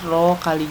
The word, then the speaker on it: rho: rho itu apa rho itu massa jenis ini bacanya rho Ya massa jenis satuannya kgam/m k yaitu percepatan